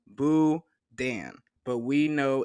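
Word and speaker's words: boudin: is buan is the authentically Cajun item is pronounced buan but we know it's an unusual word if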